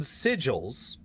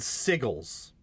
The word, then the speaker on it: sigil: But instead of runes and sigils, at one point he actually says ruins and sigles.